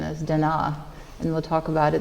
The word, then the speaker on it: Da Na: is Alana Thompson palette exposure and here at Dona estates actually the most correct pronunciation is Dena and we'll talk about it in a little